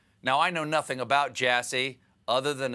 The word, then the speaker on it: Jassy: Now, I know nothing about Jassy other than his last name rhymes with sassy.